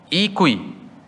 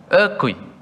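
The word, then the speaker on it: 餓鬼: In Chinese, it's called that Ikui. Is it correct, my pronunciation? It's Ikui, right? Ekui. Oh, Ekui. You know, hungry. Oh, Ekui, hungry.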